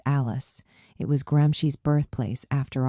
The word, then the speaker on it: Ales: I had to go to Als, pronounced Alice.